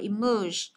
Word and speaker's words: emerge: Thế còn những cái trường hợp khác cho âm thứ hai chúng ta sẽ đọc là emerge. Emerge là âm thứ hai này, có nghĩa là nổi lên hoặc là nổi lên đúng không, hoặc là xuất hiện.